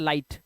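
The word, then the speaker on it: light: आया हुआ है और जीएच को साइलेंट करना है तो इसे पढ़ना है लाइट क्या पढ़ना है लाइट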